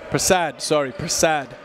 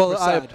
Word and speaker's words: Prasad: You know, when you hear that last name, you automatically assume that there's a U in it. Oh, yeah, because most of the time it's spelled like that, but it's Prasad.